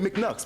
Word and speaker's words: Mcknux: Instead of saying my name or saying MC Nux when I got correct. I'm like, yeah, it's Mcknux, but you can say that Mcknux.